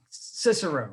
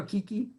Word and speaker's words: Cicero: always quote guys like cicero right can you imagine calling cicero kiki hey geeky get over here and you know